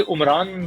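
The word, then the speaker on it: Umran: तेज बाल कर लूंगा नाम अब मैं कुछ ठीक नहीं प्रोनाउंस करता था हमें तो इमरान ही सुना है अभी चाहे वो इमरान खान इमरान नजीर हूं इमरान फरहत हो या अब ये ये उमरान कहते हैं तो यह हो सकता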